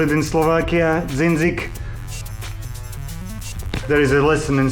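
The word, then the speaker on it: dzindzik: I put one hole into this little thing, how we call it in Slovakia, dzinzik.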